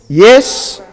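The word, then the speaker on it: ישראל: The way you'd pronounce it then is Yisrael.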